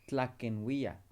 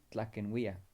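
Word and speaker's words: tlaquenhuia: ahora le pones wia, pero cuando haces eso, el, la parte aquí que es mi se convierte en N y ahora es tlaquenwia. Tlaquenwia. Así se pronuncia.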